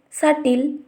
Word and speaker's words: subtle: If we see the next condition, before the letter T, the B will not pronounced and supposed to be silent. Let's see some of the examples: doubt, subtle, dead, etc.